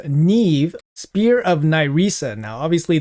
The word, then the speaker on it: Niamhe: in the game called Neve, Spear of Nesa. Now, obviously, the spelling of this champion's name doesn't really match, but apparently in the Irish uh pronunciation, her name is Neve.